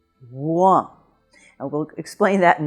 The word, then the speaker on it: Rouen: number nine and the word this week is Rouen. Now Rouen is the capital of the province of Normandy